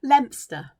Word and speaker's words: Leominster: i can think of anywhere no i can't lempster lempster is spelled leominster but it's pronounced lobster and you